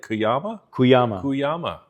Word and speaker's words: Cuyama: Cuyama.